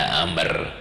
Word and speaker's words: Amr: Amr itu kalau ada wawunya bacaannya Amr, kalau tidak ada wawunya Umar, itu ya, lain.